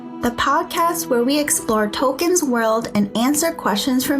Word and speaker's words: Tolkien: bad American accent but I've been pronouncing his name wrong oh no oh boy the correct way is token now remember JRR tolken